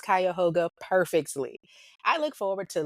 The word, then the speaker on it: Cuyahoga: By the way, you pronounced Cuyahoga perfectly.